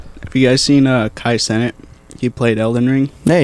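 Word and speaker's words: Kai Cenat: have said this Kai how you say Kat Kai senat go there go good job buddy k k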